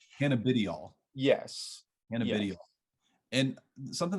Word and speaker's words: cannabidiol: So the correct pronunciation is Cabidinol. Did I get It's that? cannabidiol. Cannabidiol.